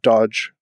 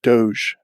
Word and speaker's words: doge: actually doge so not dodge or doge but doge as in like taj mahal that's how you pronounce